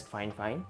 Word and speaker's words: FIFINE: for all things Tech so fine fine yes that is pronounced as fine fine reached out and invited